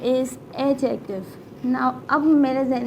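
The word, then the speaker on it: adjective: एडजेक्टिव, बट इट्स नॉट अ एडजेक्टिव, इट्स अ एडजेक्टिव। इसमें D silent होता है।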